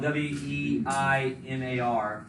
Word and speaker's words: Weimar: the Weimar Republic, spelled W-E-I-M-A-R. How do you pronounce it? Weimar. Yeah, like Volkswagen. Basically, every W in German is a V.